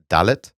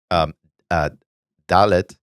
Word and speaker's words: dalet: But in Hebrew, the letter D, dalet, sounds like the word delet, which means door.